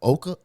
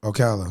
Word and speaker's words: Ocala: So, um I want to know if I'm I may be pronouncing it wrong. Is a Oka how you say it? Okala.